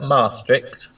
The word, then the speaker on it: Maastricht: says greetings from a cold and I can't pronounce that in the devlins perfect chat logs but that Maastricht yes its Maastricht yes famous Ritter treating yes